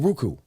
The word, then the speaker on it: Roku: So we're gonna be all across the world on Roku. It's Roku, right?